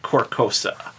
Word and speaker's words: Carcosa: it's Carcosa. Yeah, Carcosa. Carcosa. Like the car. I gotcha. Yeah, it's not working the Carcosa.